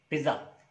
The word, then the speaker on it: pizza: This is not pizza. It's pizza. Pizza. The correct pronunciation of this word is pizza.